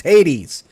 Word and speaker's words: Hades: That bugs me he's pronounced it as hates. It's Hades, but Arc Raiders, how is Arc Raiders hateful of men?